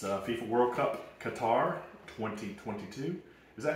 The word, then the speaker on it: Qatar: It's FIFA World Cup Qatar 2022.